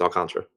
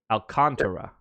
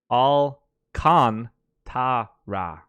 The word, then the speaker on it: Alcantara: cool with me so I can see the syllables on the screen there are four of them Here I am making sure that when I speak his name I say all four of them Alcantara I think you're saying